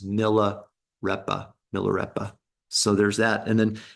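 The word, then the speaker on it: Milarepa: syllables all excuse me all of the vowels are soft as opposed to long it's not my Rapa it's Milla repa millera so there's that and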